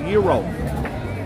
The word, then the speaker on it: gyro: gyro there's the AG gyro Carver but looks like they're out of Gyro me uh actually they pronounce it Euro and they don't like it when you call it gyro and uh here's my